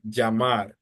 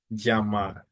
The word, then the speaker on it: llamar: I say llamar. So that is one of the differences with the pronunciation. In Colombia, they tend to pronounce the double L like a soft J. That's why I say llamar.